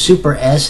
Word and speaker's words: SuperS: This is Supers. You know, I always thought it was Super S, and it's actually pronounced Supers.